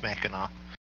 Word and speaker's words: Mackinac: Mackinac Bridge, yeah, it is Mackinac.